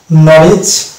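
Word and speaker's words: knowledge: আমরা সাইলেন্ট দেখতে পাবো, যদি শব্দের শুরুতে কে এবং এন পাশাপাশি থাকে, সেই ক্ষেত্রে কিন্তু আমরা কে সাইলেন্ট দেখতে পাবো।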